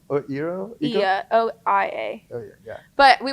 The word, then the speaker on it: Oia: Then we wanted to go to Ia, which is, it's spelled OIA, but it's this town like to the side from Santorini.